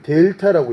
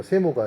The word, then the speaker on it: 델타: 이걸 델타라고 읽습니다. 세모가 아니라 델타. 그리스어로 델타예요.